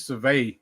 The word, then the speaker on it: Seville: So I think it's Seville. That's how it's pronounced.